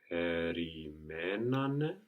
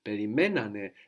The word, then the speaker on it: περιμένανε: But when we have two syllables, when we're adding two syllables on the end, then we don't need to move the accent. Actually, in the past, we want the accent third from the end, and it's already there when we had two syllables.